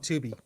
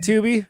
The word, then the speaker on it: Tubi: Yeah, they're all on, I'm watching them on Tubi. There you go. So I'm actually going in order, which is actually kind of fun. You know what I like about Tubi? Rhymes with boobies.